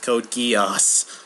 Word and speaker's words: Code Geass: and kiosk wait what GEOS that's how it's pronounced Code Geass anyways it's hard to come